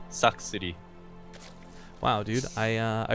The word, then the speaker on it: Sacsri: my Insanity it is saxer or to have it pronounced properly SX City wow dude I uh